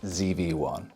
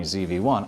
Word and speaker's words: ZV-1: Sony ZV-1. There's a lot to like. It's compact, it's capable, and when you use the American pronunciation, it sounds like Stevie, an underrated character from Malcolm in the Middle.